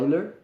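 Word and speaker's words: Euler: os tempos não seria chamado leonardo vai ler mas se escreve eu ler e esse cara ele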